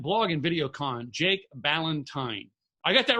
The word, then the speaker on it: Ballentine: guest speaking at blog and video con Jake Ballentine I got that right right Jake you sure did yes you did I mispronounced feels names all the time Jake I